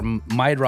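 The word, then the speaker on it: Meidroth: It was uh Chase Maid or Maidro I think is how you say his name was the one that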